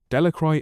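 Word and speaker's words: Delacroix: Bobby and Harry Jones and Dicky Delich villagers pronounced this name. Delicroy eventually made a great pile of stones in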